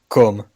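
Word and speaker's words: Côme: I'll grace the stream with a proper pronunciation. Oh wow. Cum. That's his first name. Cum. That's a lot of work. And Legendre, right? Legendre, yeah. Comme Legendre. So, Comme Legendre.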